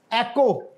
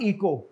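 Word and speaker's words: echo: डोस है and what is this एकको नॉट इको मतलब है कि आप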